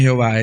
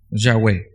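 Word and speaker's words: Yahweh: estudian esto dicen que lo que más se acerca a la pronunciación del nombre de dios no es jehová es agua nuestra latinizada en español pudiera ser llave ya web y en nombre de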